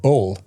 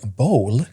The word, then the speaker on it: bull: I was like, "I still struggle to to pronounce the word bull." Bull. Yeah. Like a male cow. Oh, really? Bull. Yeah. People are like bowl.